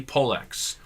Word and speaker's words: Pollex: And yes, I did search on Google on how to pronounce it, and Google told me Pollex.